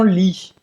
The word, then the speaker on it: lit: gigante, un grand lit, você não vai pronunciar o T de lit, un lit, uma cama, em francês uma palavra masculina, un lit, não vai pronunciar esse T, un grand lit pour moi, toute seule, para mim, sozinha, né?